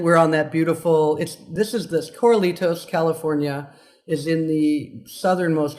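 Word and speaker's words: Corralitos: It's called, pardon me if I say it wrong, but it's Coralitos? Coralitos.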